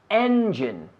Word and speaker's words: engine: say that engine engine and like the letter N engine engine Engine with him